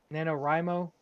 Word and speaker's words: NaNoWriMo: NaNoWriMo?